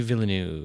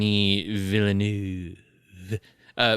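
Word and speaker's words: Villeneuve: Vu Deni villanu yeah it's frankophone you don't you don't have that final V in there villain it is but I'm not good enough at pronouncing French to do it it's villain like there's a vill there's a light kind of lip vibr that's sort of a V at the end but I'm not good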